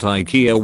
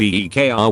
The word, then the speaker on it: IKEA: the CEO of Aiki himself calls it IKEA when giving interviews or keynotes in english-speaking countries but then calls it by the Swedish pronunciation of EE kr when in Scandinavian countries